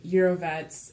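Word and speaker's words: Jírovec: Some dude, I think it's Switzerland, and you pronounce his name Eurovets, and so it was named after him, so it's Jirovecii.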